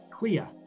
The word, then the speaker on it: Kleha: Before we hop off here, how do you pronounce your last name? Clea.